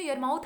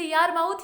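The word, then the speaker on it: Yarmouth: तो कंसान और इलिनोइन नाम की जो ग्लेशियल एज थी उसके बीच में यरमाउथ आता है। इसे यारमाउथ या यरमाउथ कहते हैं। इसका जो उच्चारण है इस तरीके से करेंगे।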